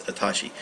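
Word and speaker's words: あたし: talk about it Ashi sometimes you'll see this kanji Watashi here and then pronounced as atashi very feminine and Casual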